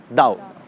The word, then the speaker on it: Tao: हम इसको पढ़ते हैं तो इट इज़ ताओ, TAO, बट we pronounce it एज दाओ।